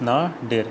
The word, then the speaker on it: nadir: Pronunciation is nadir, N-A-E, nadir.